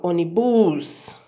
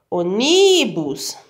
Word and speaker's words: ônibus: Onibus, eu não falo assim. A palavra ônibus, eu falo ônibus, a sílaba mais forte é o ó.